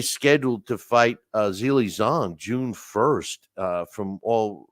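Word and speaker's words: Zhang: fight uh Wilder Zang and I definitely think Zang will win hey Alex I know you're the English major here but I I gotta correct you is it Z zong it's pronounced zong here I am correcting somebody of how to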